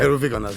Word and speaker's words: Ρουβίκωνας: Rubikonos. Am I pronouncing that right? Well, sort of. Yeah, Rubikonas, yes.